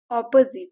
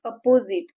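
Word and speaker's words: opposite: विरोध केला ऑपोझिट इट्स ऑपोझिट means विरुद्ध किंवा उलट इथ प्रोनन्सिएशन बघा प्रोनन्सिएशन आहे ऑपोझिट इट्स ऑपोझिट नॉट अपोझिट इट्स ऑपोझिट ऑपोझिट means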